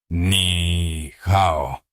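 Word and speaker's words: 你好: Ni hao. Bradley lo pronunció mal. La sala rió suavemente. Lucía no se burló. Corrigió con suavidad. Ni hao. Empuja el aliento.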